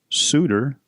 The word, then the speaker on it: souter: However, if you're Scottish or Northern English, evidently a souter, souter, S-O-O-D-E-R, is the pronunciation guide if you were curious.